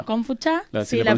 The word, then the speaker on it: Gongfu-cha: Confucha. Confucha, Si sí, la la pronunciación es pronunciación. Kung Fu. Exacto. Kung Fu como suena igual que el arte marcial, y Cha, que significa té.